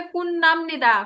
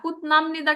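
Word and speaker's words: 근무합니다: এখানে উচ্চারণ হবে কুন্নামনিদা, কুতনামনিদা কিন্তু হবে না, কুন্নামনিদা।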